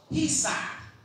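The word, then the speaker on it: chesed: The C is obviously silent.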